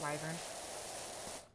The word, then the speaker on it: wyvern: find out why burn I pronounce it wyvern why why does the LIE then